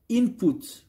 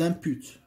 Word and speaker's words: input: production ça je l'appelle je le prononce input où les inputs c'est pas les impute donc ça c'est autre chose donc il coûte c'est comme ça qu'il faut le prononcer correctement et ça c'est intrants